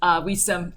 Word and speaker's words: Wisam: I hope that I pronounced your name right, Wisam.